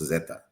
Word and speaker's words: zeta: And in Spanish, the letter Z is pronounced Zetta.